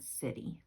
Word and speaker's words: city: The C makes the S sound in the word city. And sit, E, the Y makes an E sound, city.